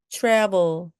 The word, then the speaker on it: travel: 여행, travel, travel, travel. T와 R이 같이 와서요. 마치 chew처럼 발음해 주면 됩니다. 입술을 쑥 내밀고서 발음하셔야 됩니다.